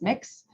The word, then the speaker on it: Mx: hears you may use mx pronounced mix if you're not sure